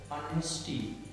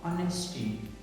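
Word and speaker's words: honesty: for example अनेस्टी एच ओ एन ई एस टी वाई अनेस्टी for example psychology P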